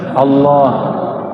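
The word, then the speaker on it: الله: Coba baca Allah. Saya orang sudah bacanya Allah. Ya, itu bukan dia lam ketemu lam. Allah harus disambung, bukan mati dia.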